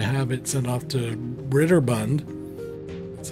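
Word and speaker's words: Broderbund: he wanted to have it sent off to Ritter Bund that's how you say it and by Christ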